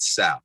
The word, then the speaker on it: Saf: i view it um so i pronounce it sap like s-a-f okay staff staff and